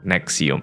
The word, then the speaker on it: NXIVM: Nah, di tahun itu, entah kenapa Allison itu menemukan sebuah organisasi bernama NXIVM, dibacanya Nexium.